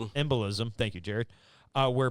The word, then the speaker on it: embolism: of oxygen followed by uh oh, I can't pronounce this word. Embism. Embolism.